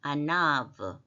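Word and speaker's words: עָנָו: 뭐냐 예 아 일자처럼 된게 이 때문에 브로 발음합니다 아나 예 아나브 아나브 이거는 겸손한 온유한 이런 뜻인데 미크 예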